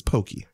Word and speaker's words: poke: pokey not okay okay did you hear that in one time and now you think it's how people pronounce it it's pokey i did that on